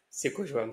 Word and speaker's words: Sekojoam: Sekojoam, ça se prononce comme ça.